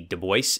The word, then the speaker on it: Du Bois: quote from dubois himself my name is pronounced in the clear english fashion do with a u as in sue and voice as in the oy in voice the accent is on the second syllable very clearly here he